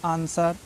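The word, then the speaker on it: answer: है एस के बाद अगर कहीं भी डब्लू आता है तो साइलेंट है जैसे हम लोग लिखते हैं आंसर सर्ड आंसर लिखते हैं ए एन एस डब्लू ई आर यही तो लिखते हैं ना आंसर पढ़ते हैं आंसर आंस स्वेर तो नहीं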